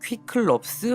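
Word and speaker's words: Κύκλωψ: 그리스어에서 나온 말로 퀴클롭스 혹은 키클롭스라고 읽고 영어로는 사이클롭스라고 읽어요.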